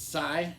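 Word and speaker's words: Sye: This is Sigh. It's spelled S-Y-E.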